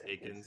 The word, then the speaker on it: Eakins: how will the team transition under Coach Dallas Eakins? I'm always going to mess that up. It's Eakins, yeah. Eakins.